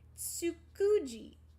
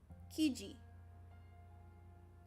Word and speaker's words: Tsukiji: Tsukuji. No, Tsukiji. Tsukiji. Can you tell me how to pronounce it?